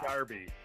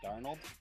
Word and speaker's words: Darnold: I said Sam Darby. Sam Darby for Heisman. Sam Darnold?